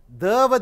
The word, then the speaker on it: the: தவ தி என்றும் சொல்லலாம். மெய்யெழுத்துடன் ஆரம்பிக்கக்கூடிய பெயர் சொல்லுக்கு முன்னாடி த சொல்லுகிறோம், த பாய், த ஷர்ட். ஆனால் உயிரெழுத்துடன் ஆரம்பிக்கக்கூடிய ஒரு பெயர் சொல்லுக்கு முன்னாடி தி ஆரஞ்சு என்று சொல்கிறோம்.